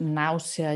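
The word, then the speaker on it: náusea: Same way like nausea, you also have four vowels there, nausea. So you pronounce all of them.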